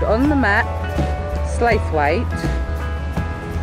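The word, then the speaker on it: Slaithwaite: called on the map slate weight uh commonly pronounced slow it slew it slew it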